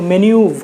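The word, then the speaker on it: manoeuvre: MENOEUVRE, मैन्यूवर नहीं, मैन्यूव पढ़ते हैं इसको, मैन्यूव, वहां पे ही जाके रुक जाते हैं, मैन्यूव।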